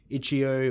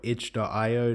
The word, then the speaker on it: itch.io: which is available on each geo or each tayo depending on how you want to pronounce it the game itself is